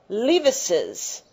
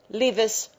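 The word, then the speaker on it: Leavis's: don't add another s however we continue to pronounce the additional s so when I read this I said one or two paragraphs explaining L's argument so in writing it just says Lis argument but in pronunciation we say L's argument that is a peculiarity that many Americans Miss some people will write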